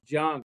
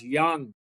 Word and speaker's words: Jung: goes in fantasy, Josh Jung. Uh maybe Josh Young uh I believe is it's pronounced.